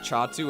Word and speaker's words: Xatu: not pre-evolved you know zatu is pronounced chatu and not the usual X sound bade used to be